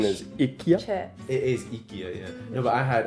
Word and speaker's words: IKEA: Pronunciation is chips. It is ikyia.